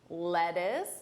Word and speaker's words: lettuce: This is, of course, lettuce, lettuce. Notice that unstressed pronunciation, lettuce, lettuce.